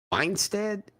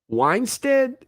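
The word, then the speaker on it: Wannstedt: y'all help me out weinsted is that how you say it here it is weinstat dave how do you pronounce this guy's name weinstead i was was i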